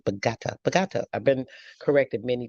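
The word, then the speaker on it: Bogotá: 1611, the first Jesus Church came and took over the indigenous land, killed over 3,000 indigenous people in Bogota, Colombia.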